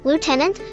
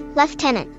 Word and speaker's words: lieutenant: others pronounce this as Lieutenant folks from the UK pronounce it as leftenant why wiary claims that